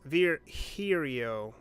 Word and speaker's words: Virgilio: bartender you look winded Virgilio it's pronounced vir here yo your couch you poseur now I'm pretty sure it's Virgilia you said as much